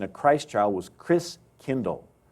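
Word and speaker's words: Christkindl: And the German pronunciation of Christ child was Chris Kindle.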